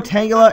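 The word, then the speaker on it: Tangela: like to call it I I call it Tang tangula but tangula I think is actually the proper pronunciation for it give me a second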